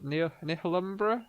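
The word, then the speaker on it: Nihilumbra: So I I finished Neil Neil Numbra recently. That's how you pronounce it. It's like Annihilation and Umbra put together.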